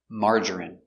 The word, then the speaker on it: margarine: Pronunciation, margarine. Open sound, ma. Mar, mar. J, strong j. Marge. Marger, marger. Marjorie, marjorie. Margarine, margarine, margarine. 3 syllables, stress on the first syllable.